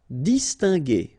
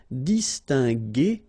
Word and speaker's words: distinguer: So that's the reason why we pronounce it distinguer and not distinguer, okay?